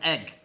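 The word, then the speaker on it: Eigg: starfish oh the islands are called RAM and egg thank you Jean thank in L thank you I said that Jean that have breakfast je but it's it's spelled e i g g yeah yeah we will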